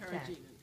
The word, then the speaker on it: carrageen: Like, could you spell it's it? It's C-A-R-R-G-E-N. Where did you get that? We call it carrageen.